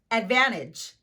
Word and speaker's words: advantage: Here are some words that include a silent T: interview, winner, gentle, advantage. As you can see here, I'm not pronouncing the letter T.